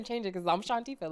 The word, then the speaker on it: Shawntifah: It's Shantifa.